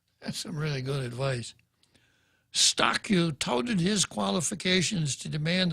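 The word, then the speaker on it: Eustaquio: before george his last name is spelled e-u-s-t-a-s-q-i-o pronounced giza guam stock you the the headline is letter stockyou should live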